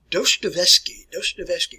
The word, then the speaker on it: Dostoevsky: All right, pronounce his name like Fyodor, last name a little bit challenging to process here and pronounce here, folks. Dostoevsky, Fyodor Dostoevsky, Crime and Punishment, The Brothers Karamazov.